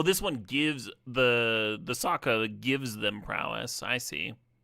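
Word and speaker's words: Sokka: Oh, this one gives the the Saka gives them prowess.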